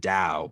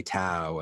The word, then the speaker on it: Tao: it as t-a-o you're still supposed to pronounce it dao but people see a t and just say t so they say tao and then you have